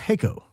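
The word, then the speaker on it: Jacó: Jaco is pronounced Jaco. I'm from Costa Rica.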